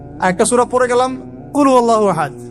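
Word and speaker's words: قل هو الله أحد: এটা উচ্চারণই বা কেমন করে করতে হয়? কুল, বলুন, হুয়াল্লাহু আহাদ, তিনি আল্লাহ এক। এই যে কুল হুয়াল্লাহু আহাদ অনেকেই বলতে পারে না।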